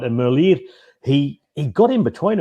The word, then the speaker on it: Merlier: it's for everybody there it's tim merlier it's like the ear on the side of your head merlier because he's flemish he's not french he's not merlier he's typically told me